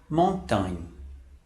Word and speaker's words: montagne: A palavra montagne, que significa montanha. Novamente, observe como se escreve em francês e a nossa pronúncia figurada entre colchetes. Observe que esse GN tem um som de NH.